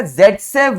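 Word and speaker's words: Zaitsev: safe कर रहे हो तो एक्चुअली इसका प्रोनंसिएशन जड से है लिखते सेफ है क्योंकि एक रशियन नेम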